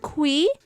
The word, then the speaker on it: Qi: Well, he revealed that he pronounced this as Mr. Qi (Kwi).